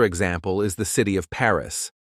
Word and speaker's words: Paris: the city of Paris a lot of Learners mistakenly say parz pronouncing it like two separate syllables but the correct pronunciation is Pari just one syllable with a little emphasis on the a sound you might also encounter